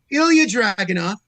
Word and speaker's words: Ilya Dragunov: So say his name since you feel you could pronounce it better than me. Ilya Dragunov.